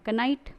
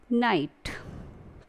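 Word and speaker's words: knight: कनाइट, बट कनाइट is wrong pronunciation, आप इसे पढ़ेंगे नाइट।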